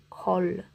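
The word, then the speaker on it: כל: Tem uma consoante, uma vogal e uma consoante, é uma sílaba fechada, e esse Tzinho, ele não é A, mas O, é kol.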